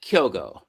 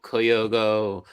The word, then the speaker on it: Kyogo: So it's just Kyogo, and Kyogo. it's just Kyogo, and it's just 2 syllables, Kyogo. And I've heard Kyogo, Koyogo, and I'm not making.